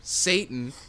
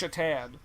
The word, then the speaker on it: Satan: This is where the lady working the counter pronounces his name Satan. Yeah, and he's like, it's Shatan. Like the hockey player.